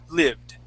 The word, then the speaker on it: lived: you would said lived so let's get a good short ey sound lived lived okay one more